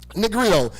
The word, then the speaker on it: Negrito: Now, what this simply means is that Negro, how you pronounce it again? Negrito.